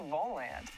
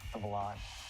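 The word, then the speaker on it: Volante: stands around campus and wondered hey what's the ball land well actually it's pronounced of a lot we've served as the student's voice since 1887.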